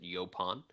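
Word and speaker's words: yaupon: o n looks like yaoon but most people pronounce it yopon um it has a very strange scientific name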